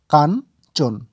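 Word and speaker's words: কাঞ্চন: ইয় চয় যুক্ত দন্তন্য তাহলে এই শব্দটির উচ্চারণ কি হবে কয় আকারে কা এবং ইয়ে ইয় টিকে ধরতে হবে দন্তন তাহলে কা আর ন কান চ ওকারে চো এবং দন্তন্য চোন কান চোন পরের শব্দ বয় জফলা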